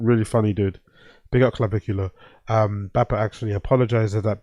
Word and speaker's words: Clavicular: Phonetic pronunciation. Clavicular. Big up Andy Ward, appreciate it, brother. Clavicular, that's his name, Clavicular.